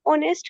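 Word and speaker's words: honest: आप ऑनेस्ट कह रहे हैं ना एन ऑनेस्ट तो यहां पे एच जो होता है एच को तो हम प्रोनाउंस नहीं करते।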